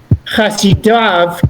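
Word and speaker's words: חסידיו: The word would be without vowels, and you could easily imagine that this is pronounced chasido, his pious one. Chasido ketiv, it is written chasido. Chasidav keri, but it is read as chasidav.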